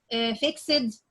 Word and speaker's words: fixed: sound, and K sound, and you add D or ED, so I say it like T, or I say it like the sound of the T sound.